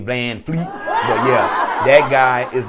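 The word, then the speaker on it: VanVleet: his name excuse me I guess it's Van Vleet instead of Van Fleet but yeah that guy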